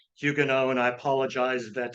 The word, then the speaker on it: Huguenot: were all saying Hugo which is a little closer to the French pronunciation so uh I got into the habit and so you're going to hear me say hugan know and I apologize if